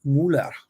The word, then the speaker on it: Müller: Sean, your last name in German is pronounced Müller. It's like it's not Mew, it's Müller.